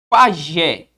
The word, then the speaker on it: pajé: A sílaba mais forte, a sílaba tônica, a pronunciada com mais força, está recaindo em que sílaba? Vamos ver? Bora. Pajé. Pajé.